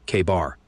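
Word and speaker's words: KA-BAR: with detail and yeah we're pronouncing that bad boy like it's written K Bar all right here I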